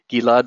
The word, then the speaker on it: Gilad: so much for tuning in my name is pronounced gila Jeff it I'm the founder and CEO of